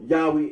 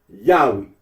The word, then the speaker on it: Yahweh: that of those who regard this name as anciently pronounced yahwe like the Samaritans talking about the Tetra